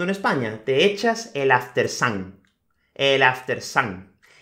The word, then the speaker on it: after sun: sun bueno en realidad la pronunciación correcta sería el after sun o after son si depende de la región de inglaterra da igual en español es decimos el after sun y el after